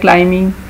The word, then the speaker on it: climbing: Next sentence है, आई got tired by क्लाइंबिंग stairs, तो आप I got tired by climbing stairs. तो इसमें climbing में B is silent.